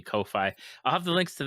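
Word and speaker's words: Ko-fi: I I pronounced it coffee, you know, coffee kofi.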